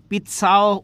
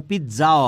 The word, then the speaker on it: পিৎজা: তারপর হচ্ছে পিৎজা, এই যে আমরা পিৎজা যে খাই, পিৎসাও হয় এটা উচ্চারণ, এবার পিৎজাও হয়। হ্যাঁ, পিৎজাও হয়, দুইটাই উচ্চারণই হয়।